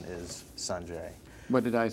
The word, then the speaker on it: Sanjay: Well, I play this tennis player named Sanjay Gandhi, and actually the pronunciation is Sanjay.